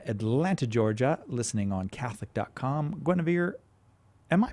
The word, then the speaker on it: Guinevere: Guinevere, am I pronouncing your name correctly?